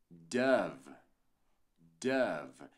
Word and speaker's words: Dove: ver exemplos olha aqui Dove Dove aqui é o som do a no o tá Dove e eu